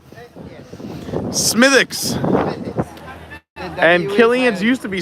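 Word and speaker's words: Smithwick's: was going to say also it's a silent W how dare you smithx and Killian used to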